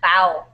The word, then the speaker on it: bow: When we are greeting an older person or someone important, we bow down a bit. This Okay, perfect. Yeah, actually, yeah, you can start the we bow down. So this word is pronounced bow.